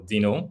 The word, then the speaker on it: Deno: discussing no um sorry Deno or Dino as it's pronounced um after that we